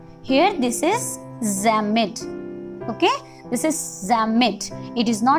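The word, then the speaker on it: Psammead: Here this is Zamet. Okay, this is Zamet. It is not PP, is silent here, so pronounce it like Zamet.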